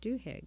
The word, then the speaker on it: Duhigg: I hope I'm pronouncing that right. Duhigg, yeah.